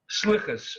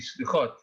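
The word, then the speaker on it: סליחות: will begin reciting the prayers called Slichas, or the Sephardi pronunciation will be Slichot, the prayers of forgiveness.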